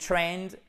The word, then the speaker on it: trained: It trained, ok? On prononce bien le ED.